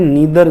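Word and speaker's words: neither: इसमें भी जो सेकंड सब्जेक्ट है उसके अकॉर्डिंग हम लगाएंगे, आइदर और नाइदर नोर दोनों में ही। इसको इधर भी बोलते हैं नीदर, जैसे उसको इधर बोलते हैं इसको नीदर भी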